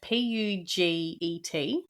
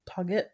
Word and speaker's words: Puget: P U G E T Puget Puget Puget.